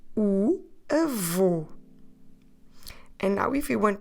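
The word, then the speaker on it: avô: the letter o and that circumflex on the letter O it's there to tell us that we need to close the vowel so we spell it with a v o concert or in English A V O and that o takes a circumflex so we say Evo and now if we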